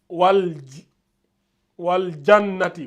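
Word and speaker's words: والجنة: Dès que vous voyez le soukoun, vous prononcez bien le al.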